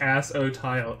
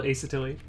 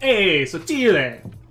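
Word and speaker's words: asottile: I thought it was ass-o-tile. Yeah, thanks, bud. Yeah, but no, I pronounce my handle Asotili, or like "Hey, Sotile," but oh, I probably just peaked my mic.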